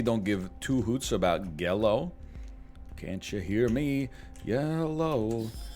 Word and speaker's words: Gello: It's pronounced Gello.